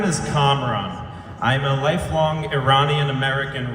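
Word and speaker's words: Kamran: campaign here we go see my name is comron I'm a lifelong Iranian American resident of Westchester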